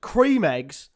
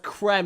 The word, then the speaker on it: Creme Egg: I'm sorry no no before we get into this she is just pronounced cream eggs as creme eggs it's a Cream Egg anyway it's a Cream Egg anyway no no no no no no it's a Cream Egg it's not a Creme Egg but anyway I'm